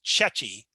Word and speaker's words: CECI: probably be one college that's ceci or it's being pronounced chechi for short so i wanted to